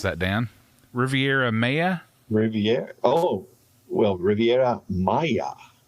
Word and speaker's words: Riviera Maya: idle cancun and uh the how do i pronounce that dan riviera maya riviere oh well riviera maya maya yeah thank